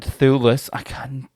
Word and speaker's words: Thewlis: David Thewlis, is that how you say his name?